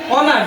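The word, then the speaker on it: honour: হয়েছে ব্যতিক্রম আমরা কয়টা শিখছি বলছে অনেস্ট অনার যেখানে এইচ এর উচ্চারণ হয় না ইউনিটি ইউনিফর্ম যেখানে ইউ এর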